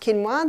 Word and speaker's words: quinoa: It's spelt quinoa, but it's pronounced quinoa.